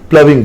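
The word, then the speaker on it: ploughing: देखिए, हालांकि जो इसकी स्पेलिंग है इसके हिसाब से तो प्लगिंग लग रहा है, बट इसको प्लविंग बोलते हैं।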